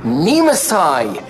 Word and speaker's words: Nemesis: Nemesis is a ridiculous name. I told you, it's pronounced Nemesai. Stress the I. It's Japanese. Yes.